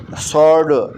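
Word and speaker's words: sword: फिर है सॉर्ड, इसमें W साइलेंट है।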